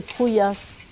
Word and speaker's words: Troulhas: Le lieu-dit s'appelle Trouillas. Ça s'écrit R-O-U-L-H-A-S, puisque ici, quand on a un L et un H, ça fait Yeux.